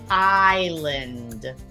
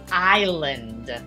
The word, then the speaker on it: island: next word is tricky Island do you hear an s in that word no but when you write it there is most certainly an s but we don't pronounce